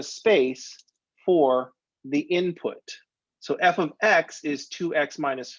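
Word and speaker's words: f(x): to pronounce this symbol we pronounce that by saying f of x f is the name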